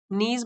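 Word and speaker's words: knees: नीज अपने घुटनों पर नीज मतलब घुटने के साइलेंट है इसमें एंड लुकिंग एट द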